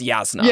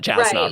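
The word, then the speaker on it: Jasnah: to storm light where it's like oh it's yasna it's not jasmine right yeah that's yeah you may have always pronounced with a y then yeah you would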